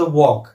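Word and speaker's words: walk: आपण जोक म्हणतो तसच नेहमी वापरला जाणारा शब्द वॉक डब्ल ए एल K spelling असला तरी त्यातला एल सायलेंट आहे किंवा नी याची सुरुवात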